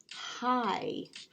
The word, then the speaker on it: high: Keep that IGH together this time and try and sound out the word high to spell it. IGH, here's the I and our GH combination right there. High, and it's taking on that I sound.